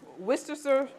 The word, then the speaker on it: Worcestershire: yep all right so I am adding some Worcestershire Worcestershire sauce I always mess it up in